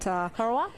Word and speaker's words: Corowa: But Corowa.